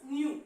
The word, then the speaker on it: nu: Students, here that nu voice nu, it can be pronounced as nu. Okay, see. So nu is equal to, sometimes they can write V. It is not a V, students.